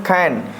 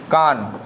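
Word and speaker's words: can: तीसरा यहाँ पर देख खैन, क्या, सी ए एन, खैन, ठीक है ना, खैन पढ़ते हैं इसे, खैन, ठीक है, ना कि कान। कान हम नहीं पढ़ेंगे, खैन पढ़ेंगे, खैन का उच्चारण हो रहा है, ठीक है ना।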